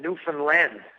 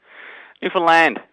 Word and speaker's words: Newfoundland: Well, Newfoundland. How do you say it? What's the correct way to say it? Newfoundland.